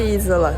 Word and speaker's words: Isola: Oh, and I just heard the Italian woman speaking at the restaurant: Monte "EE-sola". Salami from Monte Isola. Now we know how to pronounce it.